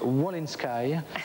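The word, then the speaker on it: Wolinski: de volinski Ch g en fait on prononce W in Sky donc tu as tout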